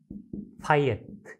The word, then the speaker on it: fiat: 또는 fiat, 이거 명령이라는 뜻이죠? fiat, fiat이라고 발음하죠. fiat, fiat money.